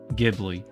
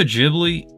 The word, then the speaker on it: Ghibli: So Studio Ghibli, or if you live in North America or in the Western countries, is Ghibli, but in Japan is Ghibli because of how it's pronounced, I guess, with the katakana and whatnot.